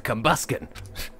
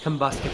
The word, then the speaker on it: Combusken: he'll it's a Combusken still bothered that that's actually how you pronounce the thing's name for years I have set combustor then we combust bus a bus ticket there we go bothers me that that's not it there are days 15